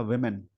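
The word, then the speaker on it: women: बनेगा, इसका फॉर्मेशन होगा वेमेन। यानी जब भी आप इसको सिंगुलर में प्रोनाउंस करें तो इसका प्रोनाउंसिएशन होता है वुमेन, और जब भी चलेंगे प्लूरल में इसका प्रोनाउंसिएशन हो जाता है वेमेन।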